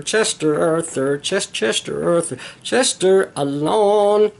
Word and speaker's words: Alan: Chester, Chester, Chester Arthur, Chester Arthur, Chester Arthur, Chester Alon. He pronounced his name Alan, but he pronounced it Alon.